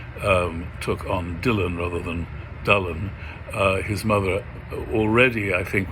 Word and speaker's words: Dylan: And then a strange thing happened, which was that Dylan's name, which incidentally is pronounced Dullen, if you pronounce it correctly, that Y is actually what we would treat as a U, and the U